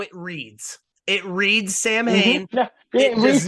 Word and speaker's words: Samhain: to me, come Samhain, props for you, Mike, for pronouncing it right. Because a lot of people think it's Samhain. It's Samhain, said, people.